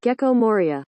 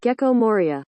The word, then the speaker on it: Gecko Moria: a sense, so please enjoy me learning the pronunciation of this leader. Gecko Moria. One more time. Gecko Moria. So for anyone who wants to know, I now know how to pronounce Gecko Moria.